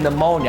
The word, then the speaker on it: pneumonia: It's a simple word, but I keep adding the P in the mix.